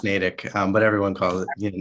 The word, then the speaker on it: Natick: connected with him and yeah um yeah it's pronounced natick um but everyone calls it natick who doesn't know about it um but it's